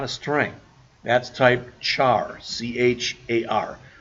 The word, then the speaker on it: char: That's type char, C-H-A-R. Some books will call them car. I don't know why, but I've always pronounced the H myself.